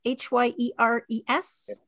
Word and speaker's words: Hyères: Did the Bromfields ever visit Edith in, and I'm not sure how to pronounce this, Hyeres, H-Y-E-R-E-S? Hyeres. Yes. Hyeres.